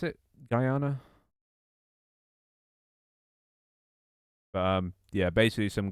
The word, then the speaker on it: Guyana: Oh, have you have you not been following the situation with Goyana? Is that how you pronounce it? Guyana.